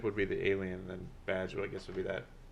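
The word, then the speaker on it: B'dg: the squirrel green lantern you're thinking of badge is it is it badge yeah but it's spelled bdg is it yeah i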